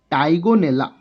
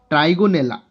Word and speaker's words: Trigonella: Sometime R is silent, so that is Tigonella.